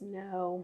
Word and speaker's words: Noe: Taxman says it's pronounced no no see I had a girl that worked for me and her last name was no OE and it was Noe so wait didn't I